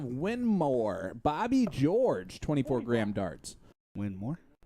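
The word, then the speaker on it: Winmau: Winmore? Oh, yeah. That's how you pronounce it. Is it really? Yeah. It's still windmill.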